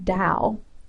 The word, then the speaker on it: Dao: um so the word Dao and you'll also see this word spelled with a t ta so to or da it's the same thing um this word Dao